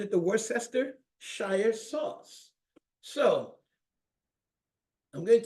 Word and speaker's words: Worcestershire: Worcestershire. I didn't hear anybody. Worcestershire. Worcestershire sauce.